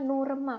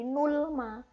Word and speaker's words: Nurma: Kalau tadi nulisnya aku taruh di sini, ini bukan dibaca nurma, tapi malah jadi nulma. Nah, orang Korea ketika tidak ada bacim yang lafalnya itu sama biasanya akan ee ditambahkan ee e di belakangnya kayak gitu ya. Jadi di sini memang tulisannya menjadi nurma bukan nulma.